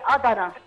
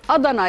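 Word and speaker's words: Adana: انت بتقولي كباب ادنى، هي ادنى ازاي؟ قولي لي النطق الصح، ممكن اكون بنطقها غلط طبعا، ايه المشكله؟ ادنى دي ولايه من ولايات تركيا. ادنى يعني ضاد بدل الدال.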